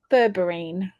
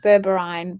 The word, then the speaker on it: berberine: Do you recommend bourberine? Maybe I'm pronouncing it wrong. Berberine.